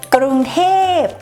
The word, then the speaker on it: กรุงเทพ: We say กรุงเทพ or casually กทม.